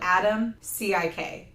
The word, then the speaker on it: Adamcik: It's spelled Adam, C-I-K. So Adamcik. He's Adam Dylan, fucking so cutback.